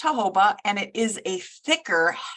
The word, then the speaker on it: jojoba: avocado jojoba is um some people call it jojoba but it's pronounced jojoba and it is a thicker heavier oil I